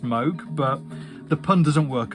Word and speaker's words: Moog: So I appreciate it should be pronounced Moog, but the pun doesn't work otherwise.